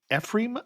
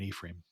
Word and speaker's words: Ephraim: But we would sail by Ephraim, I think is the way they pronounce it. I would Hmm. want to say it in the Hebrew pronunciation of Ephraim, but that is not how they pronounce it in Wisconsin.